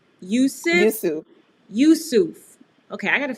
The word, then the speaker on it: Yoosuf: I am going to now bring into the room Miss Lande, and I know I'm going to pronounce the last name wrong. Is it Yoosuf? Yoosuf.